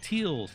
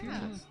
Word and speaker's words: Teolis: Before I did any podcasting, the names I would get for Teolis when people try to Teals, Tolls, Toilets, like, I'm like no. Your last name's so easy though. You just pronounce all the letters. All the syllables. Teo like Leo, Liss. There you go. Yeah. Teolis. Piece of cake.